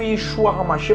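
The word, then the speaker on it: ישוע המשיח: verdadeiro nome do Senhor Jesus em hebraico eu pronuncio Yeshua Hamashia que tem aula mais e aqui na cruz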